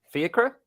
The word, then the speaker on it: Fiacre: His brother, Fiacre. Am I saying it right? Yeah. Fiacre Kelleher, the brother of Queeveen, has moved from Bradford City to Colchester United over in Essex.